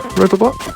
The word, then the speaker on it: Robobot: Is that how you pronounce it? Yep. Robobot?